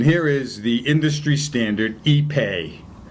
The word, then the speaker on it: ipe: Okay, and here is the industry standard Ipe. Ipe. Not to be confused with Ippy.